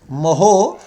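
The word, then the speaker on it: mho: Ohm inverse को हम लोग मोहो बोलते हैं, मोहो। तो जो चालकता का मात्रक बनता है क्या बनता है, मोहो सेमी इनवर्स, मोहो सेमी इनवर्स।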